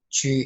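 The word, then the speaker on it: 豬: Chu is tone 1. We will pronounce it like Chu, Chu, Chu, Chu.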